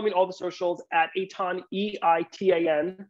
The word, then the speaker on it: Eitan: all the socials at Aton eii tan my name is spelled nothing like it is pronounced um EIT tan Facebook and